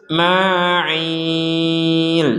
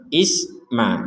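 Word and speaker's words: إسماعيل: boleh dipantulkanah dipantul dipantulkan Jadi kalau ini bacanya langsung saja wa Ismail jadi jelas gitu Isma Isma jangan sampai Isma nah ini mohon harus dipertegas Untuk masalah ini baik kita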